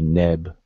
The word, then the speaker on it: neb: So this particular word will be neb, and not noob, nib.